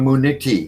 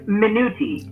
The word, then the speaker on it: Minuti: And without further ado, may I introduce you to Muniti. Is that how I pronounce it? Have I pronounced it correctly? It's Minuti. Minuti. Like minute with a Y.